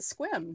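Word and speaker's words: Sequim: My sister lived in Mount Vernon and then Squim for years. Okay. So I've actually been out there quite a bit. As evidenced by you pronouncing it Squim.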